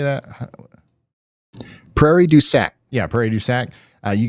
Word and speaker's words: Prairie du Sac: Prairie du Sac.